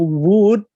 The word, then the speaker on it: would: Nah, kalau would, W-O-U-L-D, L-nya itu jangan disebutin. Jadi I would, jadi kayak wood-nya wood kayu, W-O-O-D, itu bahasanya would.